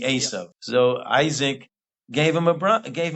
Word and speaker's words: Esau: gave to as Esau I think you pronounce you in English they pronounce it Esau I think the the his name is actually as so Isaac gave him a